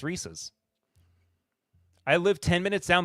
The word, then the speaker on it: Reese's: Thank you for not pronouncing it like some crazy southerner. Reese Reese's. No, it's Reese's.